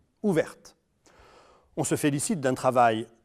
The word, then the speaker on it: ouverte: Notez que l'on prononce alors le t final au féminin ouverte.